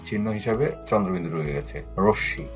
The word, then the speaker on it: রশ্মি: রশ্মি, এখানেও মোটা উচ্চারণ হয়নি, এখানে চন্দ্রবিন্দু আকারে রয়ে গেছে।